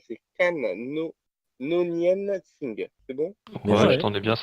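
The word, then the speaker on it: Noonien Singh: Alors, son nom, je vais en chier pour le prononcer, c'est Nonien Singh.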